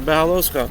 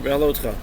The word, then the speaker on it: Beha'alotcha: So that's the connection for Beha'alotcha, or Beha'alotcha, depending on your pronunciation.